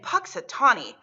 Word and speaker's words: Punxsutawney: february 2nd would be called groundhog's day in punxsutawney the special groundhog is always called punxsutawney phil there have been many punxsutawney fills every